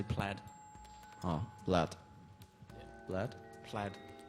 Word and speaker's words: Plaid: What's the proper pronunciation to that? We say plaid, but you can say it how you want. Probably use this. Yep. Yep, we say plaid. Oh, Blad.